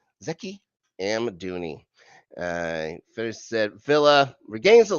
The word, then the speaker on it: Zeki Amdouni: Zeki Amdouni.